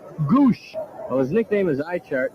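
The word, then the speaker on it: Gwosdz: though gwos DZ is the spelling but it's pronounced Goose well his nickname is ichart and you can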